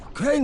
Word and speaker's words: Crane: name is crane okay crane rhymes with train and pray and say and gray and Ray and plane and the other kind of plane and and can I